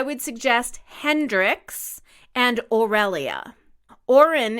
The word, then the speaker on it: Auren: suggest Hendrix and irelia Oren is also beautiful a you re n like Lauren without the L I like Hendrix isn't